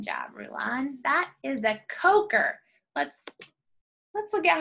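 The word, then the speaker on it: Kocher: That is a coker. Let's look at how it's spelled.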